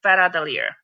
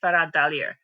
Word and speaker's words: Hveradalir: It's called Hveradalir. I think that's how you say it, probably not properly in Icelandic, but that's what it is, Hveradalir.